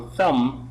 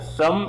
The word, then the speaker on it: thumb: your thumb so when I say for example thumb the thumb of my hand thumb it means this finger